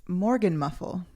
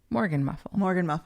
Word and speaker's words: Morgenmuffel: So my word of the week is Morgan muffle. Spell it for me. MORGENMUFFEL. Okay. Morgan muffle.